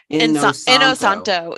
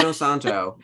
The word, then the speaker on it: Inosanto: Inosanto. Yeah. Inosanto. It sounds exactly like it's spelled.